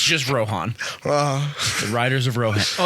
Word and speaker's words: Rohan: It's just Rohan.